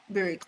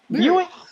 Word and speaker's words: Buick: another word I came say bck what bcks spell it bcks B is it b r Bick the car the car Buick Buick girl Buick a Buick a Buick it